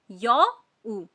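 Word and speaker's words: 여우: Next शब्द है हमारा यौ उ। यो ऊ। मेरे बाद प्रोनाउंस करिए।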